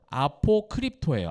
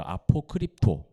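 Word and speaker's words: ἀποκρύπτω: 네 여러분 발음 발음상에서도요 위에 거는요 아포크립토예요. 아포크립토 아포크립토 많이 들어 보셨을 거예요. 아포크립토가 숨기다라는 거예요. 감추인다. 아포크립토. 그다음 밑에가 아포칼립토예요. 아포칼립토.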